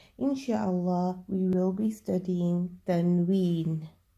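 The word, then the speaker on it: tanwin: That is known as Tanween, and it is pronounced with a N sound at the end.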